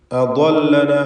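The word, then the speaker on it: أضلنا: അദല്ലന എന്ന് പറയുമ്പോൾ ദ്വാദ് ഇസ്തിഅലാഇൻ്റെ തടിപ്പിച്ച് സ്വരഭാരത്തോടെ ഉച്ചരിക്കേണ്ട 7 അക്ഷരങ്ങളിൽ പ്രധാനപ്പെട്ടതാണ്. അതിന് ഉച്ചാരണം ശ്രദ്ധിക്കുക. കൃത്യമായ അതിൻ്റെ മഖ്റജിൽ നിന്ന് ദ്വാദിനെ ഉച്ചരിക്കുക. നാവിൻ്റെ ഒരു വശം സൈഡ് നീളത്തിലും മേലെ അണപ്പല്ല് ചേർത്തുകൊണ്ടുമാണ് അക്ഷരം ഉച്ചരിക്കുക.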